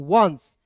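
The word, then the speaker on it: once: चलिए अब आइए यहां पे ओ एन सी ई लिखा है तो इसे पढ़ेंगे दोस्तों वंस। क्या पढ़ेंगे? वांट। वहां पे देखिए ओ एन सी ई तो वंस पढ़ेंगे।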